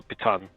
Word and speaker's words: piton: i can put a python into the wall uh piton as apparently it's pronounced which i've been doing wrong all this time yeah i'm gonna